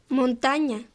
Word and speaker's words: montaña: For example, la ñ es nueva y suena como ña, ña. How do you say mountain in Spanish? Montaña.